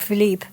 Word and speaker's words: Philippe: It was Philip something, and would have been pronounced Philippe.